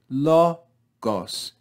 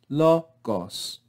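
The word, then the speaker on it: λόγος: and we again have the word lo goss the acute accent law rising and then gos lo cos we then again have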